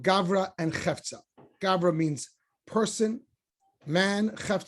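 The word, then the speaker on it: גברא: but you add aramaic if you want to know how a word is pronounced often it's the hebrew word plus a vowel so gavra or means that this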